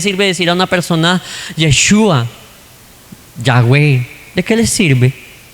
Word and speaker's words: Yeshua: nombre de Jesús es Yeshua. Bueno, no es que sea el verdadero nombre en realidad, lo que pasa es que así se pronuncia en hebreo y punto, pare de contar.